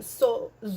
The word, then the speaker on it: So: So means the same thing. So, also the letter S is pronounced as a Z.